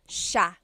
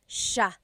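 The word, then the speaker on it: siya: It looks like it should be pronounced sa cia, but it's actually pronounced sha sha. So the s i y, it's a sha sound.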